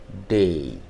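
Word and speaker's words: Day: যাচ্ছে মেই মেই আর ডে টা কি হচ্ছে ডেই আবার কি বলছিলাম যে হলিডে হলিডে দেই সেই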